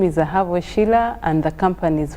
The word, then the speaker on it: Ahabwe: That is a Sheila for you, Ahabwe. That is the right pronunciation.